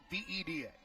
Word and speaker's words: Sepulveda: Sepulveda. Exactly as it's spelled.